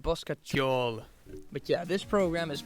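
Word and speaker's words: Bosca Ceoil: For a more simple program, you could use Buskers, hold on. Basketball. Okay, so apparently it's pronounced Boskatjol.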